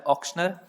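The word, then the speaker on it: auctioneer: इसको बहुत सारे लोग अलग अलग तरह से प्रोनाउंशिएट करते हैं, लेकिन इसका सही प्रोनाउंसिएशन होता है ऑक्शनर।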